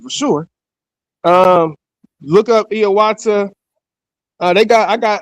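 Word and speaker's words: Hiawatha: So, if you ever heard of a man named Hayawata, it's actually pronounced Iawata, right?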